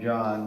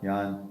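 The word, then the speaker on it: Jahn: came up with collaborating with a guy in John or yon how do you pronounce it Stewart yon okay and looked at the distortion of electron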